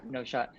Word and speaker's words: n0shot: And is that Yeah, how it's pronounced? I hope, because that's what I've called you forever. it is. Yeah, it's no shot.